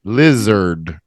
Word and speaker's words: lizard: it sounds like yeah the AR sounds like an ER lizard not lizard lizard lizard that's correct Liz like the short name for Elizabeth Liz and er pronunciation ERD not Ard yeah you got it